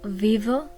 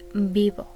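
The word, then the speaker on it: vivo: I live in Mexico you can hear that the v in Spanish is pronounced more like a be bio it's not Viv it's bio okay now it doesn't even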